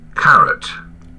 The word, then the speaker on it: caret: So is it carrot or carrot? C-R-E-T. So Carrot. carrot. Yeah, it's correct. It's the correct pronunciation. It's just like carrot that you have in your salad, right?